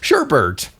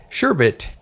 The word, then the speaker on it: sherbet: an only There's Okay, there's one R, not two. Are you sure? Yeah. Well, you can go look it up. There's probably like acceptable pronunciate mispronunciations are sherbert, Sherbert and Ernie, sherbet, sherbet.